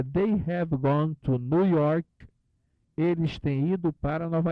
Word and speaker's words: New York: they have gone to New York. Eles têm ido para Nova York e Nova se pronuncia nu, lembra? New, não diga new, diga nu, como se fosse ele está nu, sem roupa. New York.